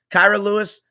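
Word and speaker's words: Kira Lewis: hart and those guys kyra lewis kyra lewis is how you say his name whenever we'd load up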